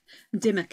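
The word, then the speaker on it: Dymock: of my favorites is a door knocker at dimmock church Dimock is spelled d-y-m-o-c-k if I remember I will put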